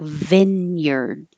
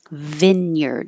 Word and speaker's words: vineyard: to the d word this looks like two words that are real words Vine and yard but when it's put together as a compound word we change it completely and it sounds like Vineyard Vineyard and using the vowel e as in hit Vineyard spars this last s